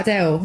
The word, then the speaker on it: Adele: The singer Adele took a question from a fan who pronounced her name with L vocalization, as in something like, I'll just play the audio here.